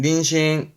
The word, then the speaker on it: 妊娠: 요게 임신이 그요 임신 발음은 닌신 닌신 이거면 되세요 아 참고적으로 앞편 져도